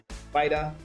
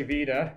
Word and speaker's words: Vita: Vita Labs. Am I saying Vita? Vita? You know, if you're European, they say Vita. Okay. Americans say Vita, so your choice.